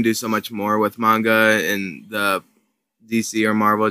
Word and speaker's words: manga: and why is it comics well um it's pronounced manga and i like manga better because basically i